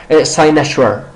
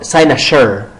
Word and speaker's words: cynosure: You could pronounce it in 3 ways. میتونی بگی. In American accent it is cynosure or cynosure. In British accent it is sinus.